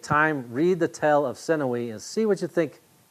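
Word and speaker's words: Sinuhe: it up I actually have a slide with it's spelled si in uhd the tale of sinawe it's dates to about the same time period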